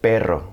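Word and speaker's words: perro: B butt per now if I stretched it out it become per and that's a completely different word it means dog in fact while we're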